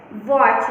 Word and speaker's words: WATCH: Next picture है वॉच, वॉच draw की गई है WATCH, तो वॉच में हमारा T जो वर्ड लेटर है वो हमारा साइलेंट है। वॉच हम क्या बोलते हैं, वॉच, T का तो प्रोनाउंसिएशन होता ही नहीं है।